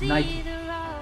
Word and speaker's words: Nike: the sportswear manufacturer nike that's right it's not knight there are two syllables knight and key in fact the company's co-founder phil knight himself confirmed in 2014 that the correct way to say the company's name is nike another sportswear manufacturer whose